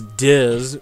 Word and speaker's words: Diz: You have this guy known as Diz, who rhymes with jizz, and so, and he's